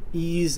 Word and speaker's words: EES: EES which is pronounced e is an acronym for Engineering Equation Solver starting with version 11.47 7 ease and the EAS ref prop interface have been